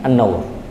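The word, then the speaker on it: النَّوْر: fikum ini karena eh saya salah baca Kemarin saya bacanya Nur Tapi setelah saya mihat ternyata annaur dan annaur adalah bunga warnanya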